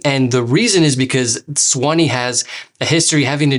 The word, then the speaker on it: Suwanee: need to know first of all i know it's a super weird spelling it's pronounced swanny and the reason is because swani has a history having